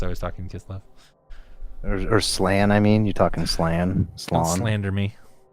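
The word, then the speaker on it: Slann: I think it's Slon. Like I mowed my Slon.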